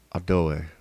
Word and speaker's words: Adoh: That's the word for king, and it's pronounced Adoe, Adoe, and then kingdom, Adohie. Adoe, Adohie, Adoe, Adohie, and then kingdoms plural has the V, Adohive, Adohive, Adohive, Adoe, Adohie, Adohive. I messed it up.